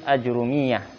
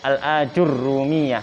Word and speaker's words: Ajurrumiyah: Al-ijazatu fi kitabil muqaddimatil ajrumiyah. Roknya ada tasdidnya. Al-ajurumiyah gitu bacanya.